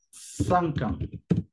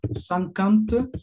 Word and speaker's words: cinquante: El 50 se escribe cincuante, pero la pronunciación será cinquante. Es como si dijeras esto, cinquante o bien cinquante. Como ustedes prefieran, se entiende igual.